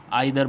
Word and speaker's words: either: इसको हम कई बच्चे बोलते हैं कि भाई आइधर बोलते हैं इसको, है ना, और कई जो इधर बोलते हैं, क्लियर। तो मैं आपको बता दूं कि दोनों ही जो है प्रोनाउंसिएशन ठीक है, क्लियर। आइधर भी ठीक है और इधर भी ठीक है, क्लियर।